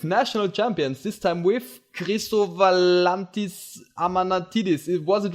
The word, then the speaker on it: Chrisowalantis Amanatidis: I'm Luca from PTCGA Austria, and today we have another interview with national champions, this time with Chrisowalantis Amanatidis.